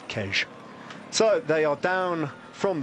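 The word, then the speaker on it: Queige: That's how you pronounce that word. I did have to check today. There are some gentlemen on the finishing line here in folkloric costume who I identified with forensic ability as locals. And I went up to them and said, how do you say this? And they said Kej.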